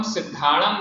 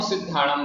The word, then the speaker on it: सिद्धाणं: उसका यही कारण है कि जब हम सिद्धाणं बोलते हैं नमो सिध्णामं णमोकार मंत्र में णमो सिद्धाणं बोलते हैं तो इसी में हमें ज्यादा जोर नहीं देना पड़ता कौन सी में तुरंत सी का उच्चारण हो जाता है प्रभु पचार नहीं होता है इस कारण से एक मात्र दी गई है नमो सिद्धाणं णमो सिद्धाणं